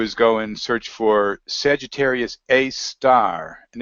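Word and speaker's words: Sagittarius A*: And all they have to do is go and search for Sagittarius A star, and it's spelled A asterisk. It's called A star.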